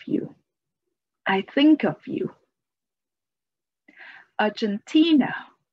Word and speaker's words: Argentina: Argentina, Argentina. The stress is on the third syllable.